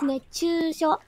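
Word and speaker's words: 熱中症: How you say it is nechūshō, right?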